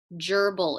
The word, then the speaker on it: gerbil: Gerbil. It will have an ER combination. So it starts like germ, ger, and then it's going to have the b, and then ill, I-L, gerbil.